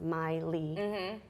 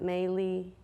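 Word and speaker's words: Mailee: ma il EE and my name is pronounced Miley not mainly Miley well I'm glad I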